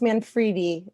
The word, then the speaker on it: Manfredi: general um on honestly so my name is pronounced manfredi that's the first thing um i like to